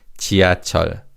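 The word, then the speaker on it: 지하철: So this word is pronounced as chia.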